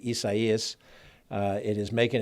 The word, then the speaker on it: Isaias: close eye on on hurricane isaiah's we have to make sure we pronounce it probably isaias it is making its